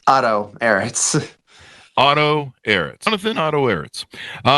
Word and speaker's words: Otto Ehritz: Is that the correct pronunciation of your last name there, Johnathan? It's Otto Ehritz.